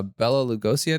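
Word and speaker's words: Bela Lugosi: lot going on really no and so uh bella lugosi i think is how you say his name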